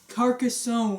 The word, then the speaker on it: Carcassonne: Okay, so we weren't 100% sure how to pronounce this, but it is Carcasson.